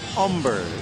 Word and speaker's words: Humber: On the mound is Philip Humber. The H is silent. He's a big guy out of Texas. If you fail and pronounce the H, he'd probably say, "Aw, eck."